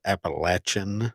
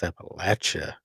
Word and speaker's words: Appalachia: podcast screen here and it said Appalachin and that's what I kept saying, but it's Appalachia.